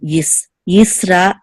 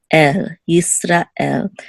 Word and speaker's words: Yisrael: And here too, Yisrael, Yisrael.